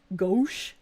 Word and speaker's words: gauche: The ow is pronounced O. Gauche. Gauche is not gosh, it's gauche.